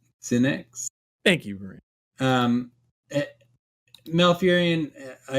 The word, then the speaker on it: Sinix: Verino in the chat said Sinix is how we pronounce. All right, cool. Sinix.